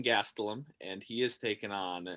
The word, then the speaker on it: Gastelum: little uh ufc preview whitaker versus gestellum if i'm pronouncing that right yeah it's uh kelvin gastelum and he is taking